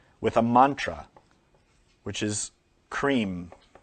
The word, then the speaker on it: Kreem: a mantra, which is cream. K R E E M or K R I M or K R Y M. You can spell it however you want. But it's pronounced kreem.